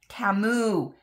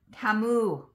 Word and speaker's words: Temu: watching me um bag my team no it's TAMU TAMU I keep forgetting that's how the commercials say to pronounce it TAMU all right thanks for stopping by thanks for